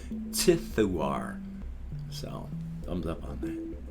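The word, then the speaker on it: Ziduar: name is more z-i-d-u-a-r but z-i-d-u-a-r is pronounced tithuar so thumbs up on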